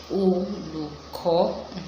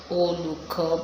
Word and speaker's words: Olùkọ́: Let me help you pronounce that. Olùkọ́. Alright, so let's say it the right way. Olùkọ́. Let's go local. Olùkọ́. But if you want to go classical, you say Olùkọ́.